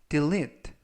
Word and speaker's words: delete: 뜻이 되겠습니다 이번 표현은 Delete Delete Delete라고 발음하시면 되겠고요 이때 강세는 알파벳 이가 세개가 나오는데요 가운데 있는 알파벳 E 즉 두 번째 있는 2에 강세가 있습니다 그래서라고 발음하시면 되겠고요 품사는